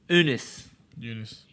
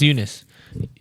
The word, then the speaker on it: Eunice: amber of warning right storm unis oh is it pronounced eunice okay i was about to